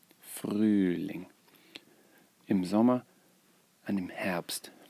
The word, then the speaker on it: Frühling: Make sure you get the pronunciation right. Frühling. Frühling.